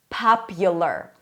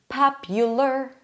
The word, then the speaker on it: popular: father, pop, and then the middle syllable is usually a schwa, ya, and then lur, another reduced vowel, lur, popular.